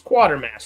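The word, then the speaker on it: Quatermass: I was like, is that quarter mass or quarter mass? It's just it's quarter mass, right? It's quarter mass. I was like, that's not how you spell quarter. Right. Right. No, it's missing the R.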